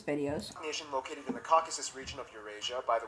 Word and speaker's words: Caucasus: of Eurasia by Quinn's pronounced Caucasus not caucus a Caucasus when a